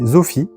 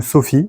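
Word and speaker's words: σοφία: Le mot lui-même vient du grec philo qui veut dire amour et sophi ou Sophie suivant les prononciations qui veut dire sagesse.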